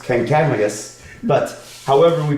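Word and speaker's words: Kancamagus: This person, I've heard somebody tell me that his name was actually pronounced Kankamagus, but however we pronounce his name, he was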